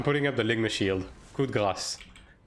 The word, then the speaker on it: coup de grâce: Like English-speaking people tend to say coup de grace, which is incorrect. It's coup de grâce with a s at the end.